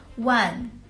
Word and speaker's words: 万: they were going to study Chinese character well one which is pronounced the fourth town means 10,000 when you